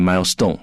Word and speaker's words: milestone: The stress will normally be on the first syllable or the first word.